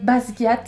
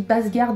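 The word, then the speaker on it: Basgiath: la vidéo ou presque j'ai mal prononcé basgat j'ai dit basgarde à la place je ne sais pas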